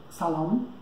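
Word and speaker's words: سلام: Para isso eu gravei algumas palavras, salam. Tá? Eu escrevi aqui a palavra em persa e ao lado a pronúncia em latim.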